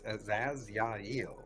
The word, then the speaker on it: Azazya'il: I wasn't sure how you pronounced that. I have to say it like that. I spent almost 3 years hearing him say his damn name in my head because I couldn't get it right.